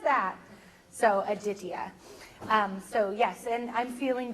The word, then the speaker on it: Aditya: And so you pronounce it Aditya. So, Aditya. So my son's name will be Aditya, for those asking.